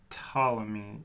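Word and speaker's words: Ptolemy: Actually, Wilson, we're in Alexandria during the second century, the time of um Patamy. Tammy. It's pronounced tammy. The P is silent.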